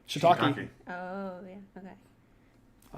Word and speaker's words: shiitake: Shiitake. Yep, that's good. What do you say? Shiitake. Oh, yeah. Okay. A 4-syllable word with Shiitake.